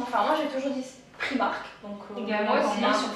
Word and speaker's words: Primark: moi j'ai toujours dit Primark, donc également moi aussi sur Primark, ouais. C'est plus simple. Là en fait on prononce à l'anglo-saxonne Primark.